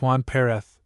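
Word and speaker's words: Juan Pérez: This prior, whose name was Juan Perez, pronounced Juan Pereth, possessed fortunately an imagination and a certain amount of influence at court.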